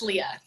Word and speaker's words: Leah: Okay, my name is Unique, and I want to make sure I'm pronouncing your name right. Is it Leah or Leah? It's Leah. Leah, got it.